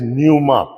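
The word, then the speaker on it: pneuma: लिए जो लफज़ इस्तेमाल होता है that is न्यूमा पी एन ई यू एम ए है ना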